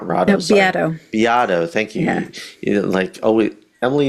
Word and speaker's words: Beato: It's called Super Agency, and it's written by Reid Hoffman, who founded LinkedIn, and Greg Rado, not Rado, No, sorry. Beato.